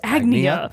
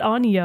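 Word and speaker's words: Agnea: I can now confirm her name is pronounced agnia okay yeah it's not Anya or any of the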